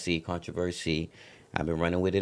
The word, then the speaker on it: Controverc: So I just switched up the spelling, took off that S-Y, put on the C, Controverc, Controversy.